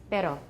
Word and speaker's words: pero: All right, the next one is the voiced alveolar tap, and that one's got just one flap of the tongue there. It's pero.